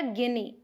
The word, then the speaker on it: guinea: फिर है गिनी पिग, आप स्पेलिंग देखिए, GUINEA, पढ़ेंगे क्या? गिनी, गिनी पिग, इसके बेबी को बोलेंगे पप।